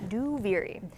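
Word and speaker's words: Duviri: saying out loud is a that's how you pronounce it by the way do viri then after the sound panel uh we go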